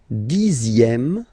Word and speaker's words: dixième: Le dixième, so remember, even if you've got this z, X here, you pronounce it z.